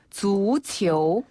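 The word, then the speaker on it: 足球: 거잖아요 발 족자를 써서 주치 주치 한 번 더 주치 주치네 이때 주는 발 족자를 중국식으로 발음하면예요 주네 그리고 공을 뜻하는 치는 주 치오 이렇게 해서 축구가 되는 거죠 아 주치네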